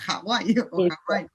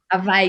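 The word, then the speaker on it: Hawái: Hawaii con J decimos se escribe con H, pero pronunciamos casi j Hawaii. Hawaii.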